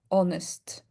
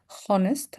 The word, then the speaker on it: honest: For example, honest here. I'm not saying honest. I'm saying honest. Our hair, air, honor, ghost, white, ghastly, and wild. In these particular words, we don't pronounce the H.